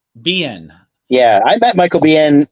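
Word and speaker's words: Biehn: AKA The Arrow yeah how do you say his name is it B it's BN bien yeah I bet Michael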